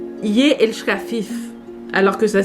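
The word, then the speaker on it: ég elska þig: Et ça se prononce Ye elska fif, alors que ça s'écrit Egg elska pig.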